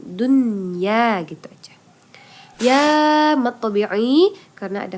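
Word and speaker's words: دنيا: Idgham bunna karena ada nun mati bertemu dengan huruf ya maka bacanya tidak dingung Dunya gitu aja ya karena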